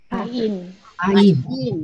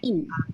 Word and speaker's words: Ain: And what are the 2 silent letters that you have learned? The very first one is Aleph. That's right. And towards the end, you have one more. Ain. That's right. Ain.